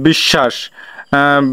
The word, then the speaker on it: বিশ্বাস: হয় তাহলে এখানে দীপ্ত দীপ্ত উচ্চারণ বলতে যেমন দেখো বিশ্বাস বিশ্বাস বনামে তালেব কয়বার উচ্চারণ হয়েছে দুইবার তাহলে এখানে বফল যুক্ত